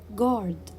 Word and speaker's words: guard: not pronounce letter u guard guard i will not pronounce letter u colleague colleague i will